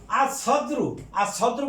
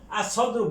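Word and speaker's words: الصدر: আর সদ্রু মানে বক্ষ, আমাদের বক্ষ যেটা সেই বক্ষ, আর সদ্রু বক্ষ, এ সিন এটা হরফে শামসিয়া, কাজেই লামের উচ্চারণ হবে না।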